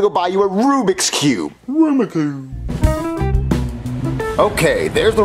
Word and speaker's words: Rubik's Cube: go in your store and buy me a Ruma Cube what a Ruma Cube are you saying Rubik's Cube no auma Cube Jeffy it's pronounced Rubik's Cube no it's auma Cube Marvin you know what